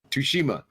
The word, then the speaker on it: Tsushima: So, like, I know that Ghosts of Tsushima, however you say it, you can say Tsushima? it. Tsushima, yeah, Tsushima. is The T is silent.